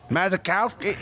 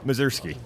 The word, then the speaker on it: Mazursky: Mazakowski. You know how it was everybody adds extra syllables. Yeah, it's not, right? Well, how do you pronounce it? Mazursky. See, I wasn't even close.